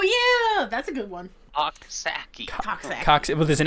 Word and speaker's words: Coxsackie: upstate New York, and I have to be careful how I pronounce this because it's called Coxsackie. Oh yeah, that's a good one. Coxsackie.